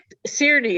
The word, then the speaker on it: Czerny: Czerny is how I would pronounce it.